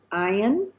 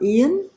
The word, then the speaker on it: Ayin: Right, now we are going to look at another letter, and this letter is Ayin, or Ian, whichever way you want to say that.